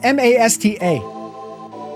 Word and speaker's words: Masta: It's M-A-S-T-A. That's how it's spelled. That's why I keep saying Masta.